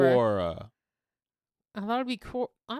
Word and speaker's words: Quora: Corora. You know Kora. If you look up any kind of question, Corora will come up. Oh, with a Q. Yeah. Quora.